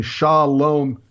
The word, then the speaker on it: Shalom: M in English and by saying Shalom by reading sha LOM I am pronouncing a Hebrew word shin Lama Bob mem